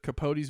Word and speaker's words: Capote: Capote, yeah.